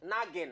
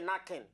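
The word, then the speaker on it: nagging: it could better make the man step down naging not knocking naging knocking all and alling n a g i n g pronounce knocking so no matter how rich women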